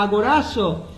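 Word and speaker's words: ἀγοράζω: Comprar en griego se pronuncia agorazo y significa comprar en el mercado y se refiere al precio que pagó Cristo por nuestra redención.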